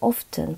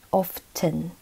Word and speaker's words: often: 그 often 발음을 하실 때요. 정 발음은 often, often. 이렇게 T 발음이 나게 하는 게 원래 맞는데 그냥 일상생활에서 빨리빨리 발음을 하다 보면은 often, often 이렇게 발음을 하기도 해요. 근데 원래 맞는 발음은 often이라는 거.